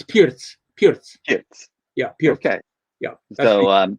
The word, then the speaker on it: Pirc: It's, how do you pronounce P-I-R-C? Pirc. Yeah, Vasya Pirc. Yeah, because when I was just reading it, I said perk.